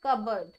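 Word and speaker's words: cupboard: ही common, यानी अलमारी, इसे बोलते हैं कबर्ड। देखो यहां पर मैंने ये क्यों करवाया, क्योंकि इसमें मैंने क्या बोला है, कबर्ड, और स्पेलिंग में क्या यूज करो, कप बोर्ड, लेकिन एक्चुअल में क्या है, ये कबर्ड है, ठीक है, इसकी स्पेलिंग की तरफ मत जाइएगा, ये है कबर्ड, आपने कबर्ड बोलना है इसको।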